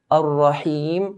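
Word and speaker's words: الرحيم: Ar-Rahim, when we stretch the kasra to Ar-Rahim, please make sure that the stretching of the kasra sounds like an E sound.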